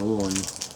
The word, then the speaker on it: Haute: it up online and a French woman said you pronounce h a u t e as o so I'm pronouncing it as o I figured she knew